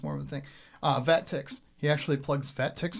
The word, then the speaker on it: VetTix: Vet Ticks, like tickets.